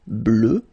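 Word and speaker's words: bleue: at the end okay phonetically doesn't exist because you don't pronounce it so you get blue as you would get for the masculine form okay but still you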